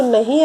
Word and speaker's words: know: देखिए, जैसे ये स्पेलिंग रीड करिए, KNOW, नो. इसको हम नो बोलेंगे, KNOW, नो. के इसमें साइलेंट होता है.